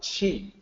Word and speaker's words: Qi: So Qi is pronounced the same as CHI, Qi.